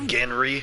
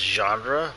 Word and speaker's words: genre: had a massive bruise did you just say genry and we got ourselves a real unfortunate hall head named lucky coincidence i think not isn't it pronounced genre why did he say genry is that like